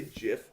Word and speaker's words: GIF: it's reading the comments how do you pronounce gif i say jif favorite pringles barbecue how old are you i'm 29.